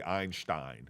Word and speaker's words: Einstein: Oh, and our friend Einstein, or as people who know how to say it right, say Einstein, which I just learned in the last 2 years.